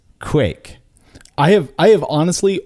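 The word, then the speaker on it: kveik: to me um I I think the way I was saying it was kek I think he's I think he's pointing that out to me and and if I'm here if I'm reading this correctly it is Quake I have I have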